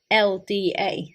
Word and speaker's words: Mathilda: in the list Matilda, and in the anime it's spelled Mathilda, so the H is silent.